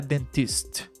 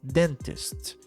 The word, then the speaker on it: Dentist: acento em inglês então por exemplo Dentist den é a sílaba mais forte então não não é Dentist é Dentist E aí para adivinhar isso